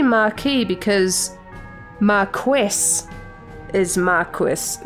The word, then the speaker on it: Marquess: ] how do you say this word Oh mark wis it is Marquess oh it's Mark II and French it's a